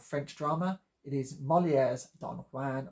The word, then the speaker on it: Don Juan: drama it is molier Don Juan or Don Jan as I believe it's permissible to pronounce the interminable Byron poem of the same name so maybe appliable here